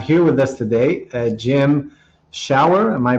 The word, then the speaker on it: Schauer: To help us do just that, we have here with us today Jim Schauer. Am I pronouncing that correctly? That is correct, Schauer.